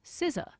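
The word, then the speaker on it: SZA: Deborah, this is actually I'm kind of surprised that this word is the most mispronounced one. It's a proper name, like a pronoun, and it's the uh artist Siza.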